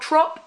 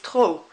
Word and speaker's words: trop: she sweet told Monty you don't pronounce that P at the end it's not trop it's tall it's like that P isn't there it needs to be